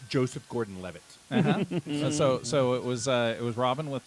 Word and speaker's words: Joseph Gordon-Levitt: actor's name is pronounced Joseph Gordon-Levitt.